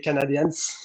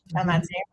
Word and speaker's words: Canadiens: voir un match des Canadians. Donc euh par avec le avec le Covid, j'ai pas pu te voir. Canadiens. Ouais, je le prononce à l'anglaise.